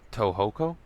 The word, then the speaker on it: Tohoku: And when the 2011 earthquake tsunami struck Japan, uh, Ho Tohoku, there's an accent on the O, so they toured the affected areas performing free concerts to promote healing for those in need.